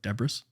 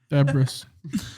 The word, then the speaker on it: debris: It's like Debris. Debris. My favorite. Just like I said last time, emphasis on the wrong syllable.